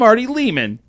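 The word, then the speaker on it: Lehmann: But he would walk around and go, "I'm Artie Lehman. Rhymes with demon."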